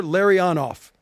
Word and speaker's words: Larionov: And he wrote Larry-on-off. Okay, good. Igor Larionov. Oh, so he nailed it.